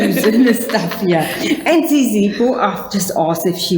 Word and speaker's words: Zizipho: and she is I must say it right, Zizipho. Yes. Do I see that po, right? Yes. Zizipho. And Yes. They chose all the Z's and the Q's and the stuff here. And Zizipho, I've just asked if she was the baby